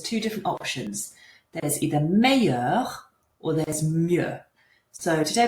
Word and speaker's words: meilleur: But if you pronounce it like this, meilleur, meilleur, there's no hint of an L when you say it.